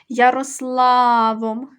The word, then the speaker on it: Ярославом: прізвище ставимо крапочку визначаємо в імені Ярославом протягнули ми голосний звук а він є наголошений а склад наголошений ла Ярославом друге слово мудрим протягували